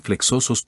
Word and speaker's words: flexoso: sido planteada, ¿cómo pronunciar flexosos tobos? La X de flexoso suena GS, como en exigir, y tobo se pronuncia de modo que rime con robos.